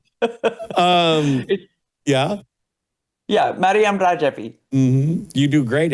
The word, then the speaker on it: Maryam: pronouncing that correctly but Maryam Maryam for sure m a r y Mary and then a m Maryam All right that's how you guys say it.